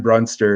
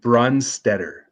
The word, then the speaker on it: Brunstetter: Chris Lee, this is from Aaron Brunster. He's from TSN. Give him his props. He's a great reporter. I said his last name wrong. Brunstetter. Aaron Brunstetter.